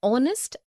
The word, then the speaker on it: honest: also an air an honest an hour because the words air honest an hour begin with a vowel sound as the initial consonant H is not pronounced article one we use